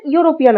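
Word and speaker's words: European: কিন্তু বসবে না কেন এখানে যে আমাদের ইউরোপিয়ান আছে এখানে ইউটা আমাদের উচ্চারণিত হবে ইউ হিসাবে এর জন্য আমাদের সবসময়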